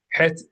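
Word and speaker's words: ח: cavity, your mouth, but it's produced where you produce the letter H. And it's so similar to the letter H that our sages complained about the uncautious readers of the Torah who would pronounce the letter het like an H. And they would do that because it's very similar to H, but it is not an H.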